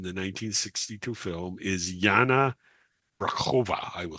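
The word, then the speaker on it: Brejchová: The uh actress who played Princess Bianca in the 1962 film is Jana Braova.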